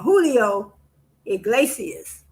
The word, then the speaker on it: Julio Iglesias: Oh no, not Julio, Julio Iglesias. But it looked like it's spelled Julio.